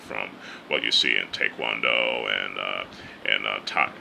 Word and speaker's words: taekwondo: in, you know, taekwondo or how we pronounce it, taekwondo, but it's pronounced taekwondo in Korean.